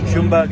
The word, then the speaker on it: Ljungberg: big vote of confidence in him from Freddie Ljungberg, as I've been told his name is pronounced in the Facebook Live that I've just done to greet the team news.